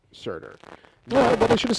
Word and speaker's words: Surtur: It's pronounced Surtur. Surtur.